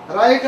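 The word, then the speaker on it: right: हैं साइलेंट रहता है जी एच के आगे टी हो तो जी एच साइलेंट रहता है जैसे जैसे आर आई एच टी रा राइट माने राइट माने सही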